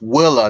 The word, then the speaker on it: Willa: American looking girl it I said her name wrong earlier it was um it was Willa not unaa Willa and I just found